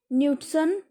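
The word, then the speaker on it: nützen: मैंने, बोला न्यूटसन, क्योंकि यू के ऊपर उमलाउट है एंड उसकी प्रोनाउंसिएशन आएगी इसलिए न्यूटसन होगा, ये न्यूटसन नहीं होगा, न्यूटसन।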